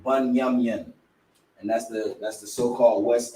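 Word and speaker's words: בנימין: Bunyamyan, that's how you pronounce the tribe of Benjamin, Bunyamyan, and that's the so-called West Indies, which is your so-called Jamaicans, Trinidad and Tobago.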